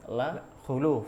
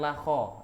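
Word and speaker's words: خلوف: yang doma itu justru kata Imam Nawawi huwa shawab, pendapat yang benar. Bahkan kebanyakan para ulama itu dari ahli lughah ya, ahli bahasa itu mengatakan dengan domah yang lebih tepat bacanya. Jadi la khuluf ya, bukan la kho, ya, bukan di fathah khoknya.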